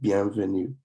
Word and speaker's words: bienvenue: And then you have bienvenue, which is welcome. So when we say these again, it is bonjour, bonjour, and then bonsoir, bonsoir, bienvenue, bienvenue.